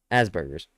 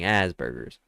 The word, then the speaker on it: Asperger's: You're not putting emphasis on the other S. Asperger's. It just sounds like you're saying the double S version, but you're saying Asperger's. Like AZ.